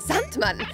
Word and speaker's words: Sandman: Er ist obendrein der Sandmann. Er muss alle Schlafwünsche genehmigen. Die Aussprache ist Sandman.